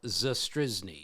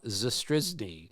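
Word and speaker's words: Zastryzny: of my favorite pitchers ever is named Rob zrz it's spelled z s t r y zny I'll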